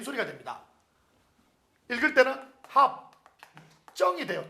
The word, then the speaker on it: 합정: 읽을 때는 합정이 돼요.